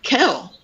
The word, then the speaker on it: Kel: I say Keenan and Kale, which I know is the wrong name, but that's just how I've always said it. Kale. It's Kel, but I say Kale.